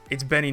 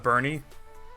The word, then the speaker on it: Benny: It's Benny, not Bernie.